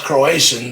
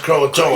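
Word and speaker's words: Croatoan: a tree cro croon I always thought it's Croatian but no it's pronounced croaton yeah it's cro know that that's something else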